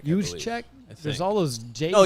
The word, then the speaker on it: Juszczyk: And Kyle Juszczyk, I always struggle with that name. Kyle Juszczyk. Juszczyk? There's all those J's. Oh, Juszczyk. I don't have to Juszczyk.